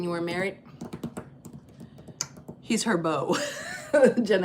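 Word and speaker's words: Beau: When black folk just added another O to the mother, but it's B E A U for Bo.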